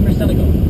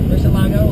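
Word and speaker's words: Murciélago: And then a Lamborghini Murcielago. Not Murcielago, like most people say it is. I should pronounce it Murcielago.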